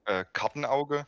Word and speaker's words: Kartenauge: My name is called Kartenauge. It's like in English would be like card eye. Kartenauge?